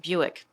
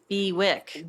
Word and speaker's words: Bewick: and their habitats and strangely pronounced Buick yes Buick crazy even though it looks like bewick bewick it's Buick it's Buick like crazy